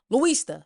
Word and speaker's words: Luista: So, Luista, that's how you say it, Luista.